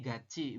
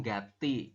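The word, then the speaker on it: 같이: GCI ini bersama ini dibacanya GCI bukan Gati ya Kara tata bahasa e bukan aturan baca sor ya aturan baca tiet di akhir ketemu dengan vokal e maka si tiet berubah bunyi jadi cieet ya gaci seperti itu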